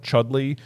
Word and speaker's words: Chudleigh: Otterton, I think it is based on similar, and then I think near Otterton is a town called Chudley, which is spelled Chudleigh.